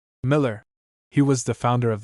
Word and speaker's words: Mueller: Mueller spent 70 years of his life in England and became so thoroughly anglicized that he wished his name pronounced Miller.